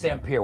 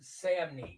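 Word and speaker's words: Samnee: Yeah, I really became a I became a fan of his stuff after after Sam How do you pronounce his name? Chris Samney. Chris Samney, forgive me.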